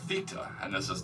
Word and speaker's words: Θ: that strange symbol um so the strange symbol is I guess uh pronounced Theta and this is not